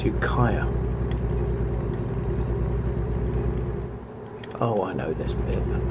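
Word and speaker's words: Ukiah: put me right about the pronunciation of what i was calling yukiya it's yukaya oh i know this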